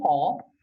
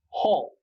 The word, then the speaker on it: hall: In concert hall, the problem with the pronunciation of it is hall. Okay, it's not hal, it's not hell, it's not hail, it's hall, hall, all, like an O, hall, concert hall.